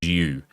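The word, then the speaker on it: Dju: Yes, his name is pronounced Jew. D-J-U. Jew.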